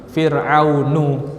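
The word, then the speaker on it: فرعون: Maka antum lihat di Al-Qur'an Fir'aun pasti tanpa tanwin. Fir'aunu.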